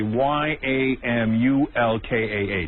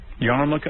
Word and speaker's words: yarmulke: I'm not even sure how to spell Yarmulke, but if I had to take a guess, I'd say Yamulkah. Well, there's an R in it, isn't there? Yarmulke?